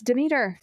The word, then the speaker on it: Demeter: Demeter. It's Demeter. Okay. I don't know. I could be saying it wrong too, but my teachers always said Demeter, so I'm just going by what I was taught, okay?